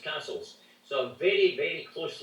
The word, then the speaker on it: Cassilis: the Kennedys of Castle, spelt Cassilis, pronounced Castles.